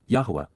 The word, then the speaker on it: Yahowah: Yahweh Yahwa the proper pronunciation of the name of Eloha God as